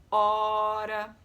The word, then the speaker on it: hora: Hora. Óleo. Né? A palavra hora inicia com H, mas qual é o primeiro som que a gente escuta? O.